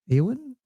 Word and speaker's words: Ewan: Ewan EWAN.